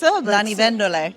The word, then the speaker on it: Lanivendole: So I know it can be a bit tricky to pronounce. Lanivendole.